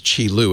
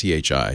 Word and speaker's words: Qi: if you can pronounce chilu and I know the Q is hard to but just remember it's Chi Chi um like cheat charging and so forth